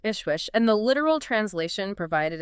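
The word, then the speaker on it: JSCHWJSCH: Pronounced approximately Ishwish, right? Correct. Ishwish.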